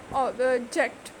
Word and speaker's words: object: So the definitely the stress is on the second syllable, that is JECT, object. Import, export, contract, object da